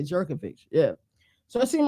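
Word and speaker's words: Jurkovec: yeah it is yeah Phil jovic is how you say but we all say jerkic yeah so it seemed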